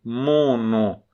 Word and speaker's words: mono: Mono, porque o M nasaliza a da frente e o N também nasaliza a da frente. Mono. A vogal é nasal.